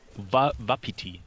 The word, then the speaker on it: Wapiti: Wapiti. That's how it's Wapiti.